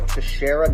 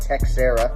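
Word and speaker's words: Teixeira: call him peter glover to shara not texera to sarah and the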